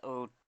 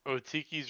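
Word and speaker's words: Otiluke: All right, how the hell do I pronounce this? Otiki's Resilient Sphere. Oh, Tiki's resilience. I did not Sphere. pronounce that right. Otiki's Resilient Sphere, right?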